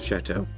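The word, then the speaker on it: châteaux: And yes, the plural of chateau is chateau. Spelled differently, but pronounced the same.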